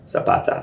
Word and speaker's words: Zapata: Zapata.